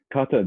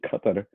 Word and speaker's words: Qatar: Qatar does, and that is actually how it's pronounced, Qatar. Qatar. Yeah, it's pronounced like Qatar. You cut on my lawn.